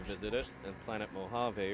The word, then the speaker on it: Mojave: As a kid, I pronounced that as planet Muvaja. Muvaje. Yeah, I had to learn what Mojave actually sounded like from my fiance.